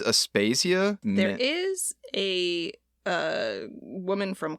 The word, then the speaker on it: Aspasia: And I'm going to get her name wrong. I think it's Aspasia. There is a woman from classical Athens, Aspasia.